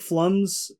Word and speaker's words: Flum: And I was very interested with like Flums or Flumes. I don't know how they pronounce it properly, but It's Flum. It's Flum, but like It's Plum with an F.